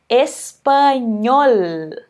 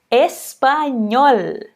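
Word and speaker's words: español: do nosso idioma espanhol no finalzinho você pode exagerar o mesmo não tem problema tá bom então é parte de comigo espanhol perfeito então em espanhol esse L ele sempre vai ter esse som não importa a posição dele é mas se você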